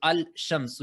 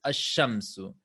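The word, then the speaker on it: الشَّمْسُ: En ese caso, ahora, por ejemplo, la ya es una letra solar, por eso en vez de pronunciarlo al-shamsu es ash-shamsu.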